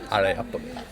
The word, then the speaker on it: Areopoli: Areopoli. Areopoli. I said it right. Bit of an American twang on there, but it works.